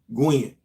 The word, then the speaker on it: Gwen: Gwen, which rhymes with win.